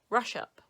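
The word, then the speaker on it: Ruswarp: Yeah, you don't pronounce a W.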